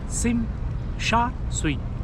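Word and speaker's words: Tsim Sha Tsui: पीर सिम सा शई सिम सा सुई नीचे मैं स्पेलिंग दे रहा हूं देख लीजिएगा टी साइलेंट होता है एनीवे इस वीडियो में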